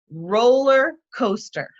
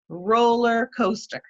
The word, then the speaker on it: roller coaster: after me roller coaster roller coaster and i can elicit from them that it's a noun and we can get that there's stress on the first syllable in each of those two words that make up the